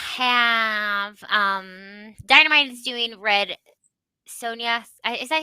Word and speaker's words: Sonja: We have Dynamite is doing Red Sonia. Is that how you say it? Sandra? Sonia? Red Sonja, yeah.